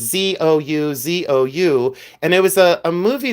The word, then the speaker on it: Zouzou: I call it the Zao Zao. Sometimes it's Zuzu. Sometimes they pronounce it differently, but it's Zouzou.